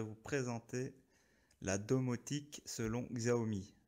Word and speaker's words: Xiaomi: présenter la domotique selon xao me xiaomi pour ceux qui veulent prononcé à la chinoise moi je dirais xao me dont vous voyez devant